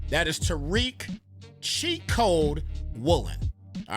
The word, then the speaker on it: Tariq: You pronounce his name correctly. That is Tariq cheat code woolen.